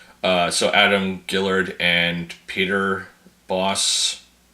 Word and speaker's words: Bos: So Adam Gillard and Peter Boss. I think BOS is pronounced boss in this language.